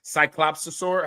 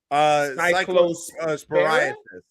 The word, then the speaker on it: Cyclosporiasis: How do you pronounce this? Is it cyclopsosaur? How do you say it? I don't know how to say it. Cyclosporiasis.